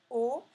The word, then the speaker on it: au: O, ça va être un mot que vous allez devoir apprendre aujourd'hui et ça s'écrit A et U. Donc il faut savoir que A et U se prononcent O.